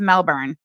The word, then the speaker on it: Melbourne: He got that pronunciation from dumbass Clarandra. It's Melbourne.